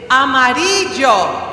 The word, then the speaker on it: amarillo: The word yellow in Spanish is amarillo. Can you say that? Amarillo. It has a double L, and so that's why you say Amarillo, I say amarillo.